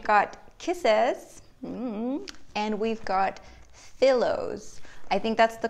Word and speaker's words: Fillows: So we've got Kisses, and we've got Fillows. I think that's the correct pronunciation. I'm assuming it's like filled pillows.